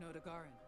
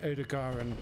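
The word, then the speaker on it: Odogaron: An Odogaran, probably a subspecies.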